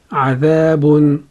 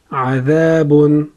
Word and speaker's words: عذابٌ: Combining these two syllables, we have عذا. عذا. عذا. The next syllable we have is باء ضمتين بن. باء is a light letter. It has ضمتين on top of it. باء ضمتين بن. باء ضمتين بن. باء ضمتين بن. Now combining all three syllables we have عذابٌ عذابٌ عذابٌ.